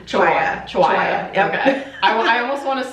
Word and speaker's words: Chiwaya: how do you say your last name chihuaha okay I also want to say Chihuahua is so closer to Chihuahua and then I